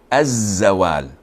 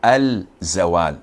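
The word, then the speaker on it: الزوال: Of course, this is Lam Shamsiyah, and we don't pronounce it when we attach it to the word. So we say Az-Zawal. We don't say Al-Zawal, as in the word Ash-Shams.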